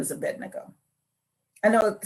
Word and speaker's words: Abednego: Let me just say his name is Abednego. And most people call him Abednego, but it's Abed. Abbe D. There's no N. A B D then the N. Abed Nego. Abednego. That's his name. I'm just saying in case you y'all want to preach on him, can you please say his name right? Because I can't stand when I hear a pastor say Abindigo.